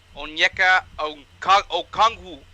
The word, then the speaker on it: Onyeka Okongwu: Onyeka Okongwu.